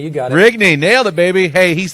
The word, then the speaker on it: Rigney: Is that the right pronunciation, or is it Rigney? No, it's Rigney. You got it. Rigney, nailed it, baby.